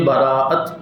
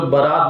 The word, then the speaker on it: براءت: وہ ہے شب براءت۔ کچھ لوگ برات بول دیتے ہیں، کچھ لوگ بارات بولتے ہیں، وہ شادی والی بارات نہیں ہے، یہ ہے شب براءت۔ براءت یہ عربی کا